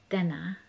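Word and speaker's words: Tinna: first name which is i believe pronounced denna it's t-i-n-n-a and she's has a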